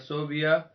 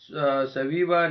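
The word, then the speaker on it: ثویبہ: حلیمہ بنت عبداللہ اور حضرت صوبیہ درست تلفظ سویبہ نے دودھ پلایا۔ 6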